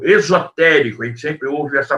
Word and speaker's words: esotérico: Existem duas palavras com a mesma pronúncia, né? Esotérico, com S, esotérico, e existe esotérico com X, ok?